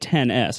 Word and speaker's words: iPhone XS: the iPhone XS just how do you say that without it yeah I can tell you apple is going to say it 10s I guarantee that I